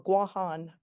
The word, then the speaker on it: Guam: uh the island of Guam, the territory of of Guam or Guan as it should be pronounced.